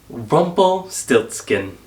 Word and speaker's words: Rumpelstiltskin: popular story of rumpelstilts you don't have to roll your r you just stop being so extra rumple stiltskin wasn't this fun though